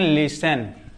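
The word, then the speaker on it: listen: टी के बाद अगर इ एन आता है तो इस टी के बाद इ एन या मतलब कि इस टी का कोई मतलब नहीं तो एल आई एस टी इ एन लेसन।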